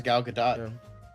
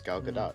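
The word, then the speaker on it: Gal Gadot: So uh but yeah, Galadot, do you pronounce the T? I thought it was anyway. Yeah. No, it is Galadot.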